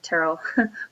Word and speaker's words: Terell: say um but I go by Terell which is pronounced like Carol with a T I know it's spelled funny I know it doesn't look like Terell but it is um